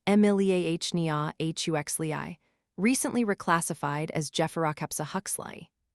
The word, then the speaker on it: Emiliania huxleyi: The most abundant one in the modern ocean carries the binomial Emiliania huxleyi, pronounced Emiliania huxleyi, recently reclassified as Gephyrocapsa huxleyi.